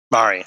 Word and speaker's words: Mari: Is it Mari or Mary? Just want to make sure I'm not botching. Mari, sorry.